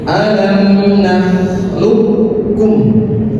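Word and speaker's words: أَلَمْ نَخْلُقْكُمْ: Yang ketiga, contoh yang terakhir, alam nakhluqkum. Langsung ke kaf. Qafnya dileburkan. Seakan-akan qaf ini tidak ada.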